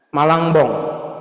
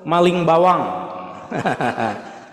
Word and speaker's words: Malangbong: Malangbong, Malangbong ya. Garut ya. Kalau m, mim, lam, eng, ba, waw, eng. Tapi ada yang baca bukan Malangbong, Maling Bawang.